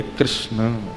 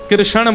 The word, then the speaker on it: कृष्ण: कई लोग कृष्ण बोलते हैं। बहुत उच्चारण उसका शुद्ध नहीं कर पाते। शुद्ध उच्चारण कृष्ण भगवान का नाम कृष्ण रखा गया।